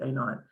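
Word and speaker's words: a₀: times the a not that's how you say it a naught so then we would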